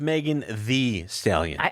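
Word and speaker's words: Megan Thee Stallion: Megan the stallions uh what I believe has pronounced Megan the stallion I have to say it like that I feel like I feel like an when I say that but I you're supposed to say like that right the stallion yes Megan V stallion she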